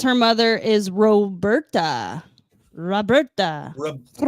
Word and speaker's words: Roberta: Roberta. You got to roll your R's. Roberta.